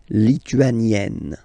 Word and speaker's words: lituanienne: Same thing here. You open the e, lituanienne.